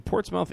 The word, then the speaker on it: Portsmouth: This one is from Portsmouth, England. Portsmouth. Portsmouth. Not mouth. It's mouth. Jesus. It's spelled mouth.